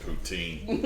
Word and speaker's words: poutine: It's pronounced poutine.